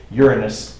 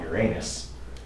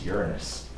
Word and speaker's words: Uranus: able to record with Uranus by the way that's how you pronounce it okay it is not your anus okay it's Uranus Uranus is something else